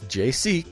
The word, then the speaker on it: Jaysee: Now, it's JC, kind of like Jesus Christ, but it's spelled JAYSEE Radio, and it's on iTunes and Spreaker right now.